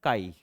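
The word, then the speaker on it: χ: से किससे डिनोट करेंगे इट इज a Greek letter pronounce as अ काई बरोबर अब मैग्नेटिक ससेप्टिबिलिटी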